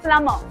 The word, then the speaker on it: plumber: प्लम्बर का बी हमेशा silent होना चाहिए. It is called as a plumber.